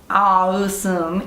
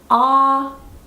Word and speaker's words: awesome: So the mistake is to say this word as awesome. It's not awesome, it's awesome. So you have to open your mouth a lot, you have to open your jaw, awesome.